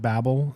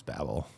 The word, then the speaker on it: Babel: way or whatever, but the author, RF Kuang, she pronounces it Babel. And so like, I think like it's kind of one of those things where like either's fine.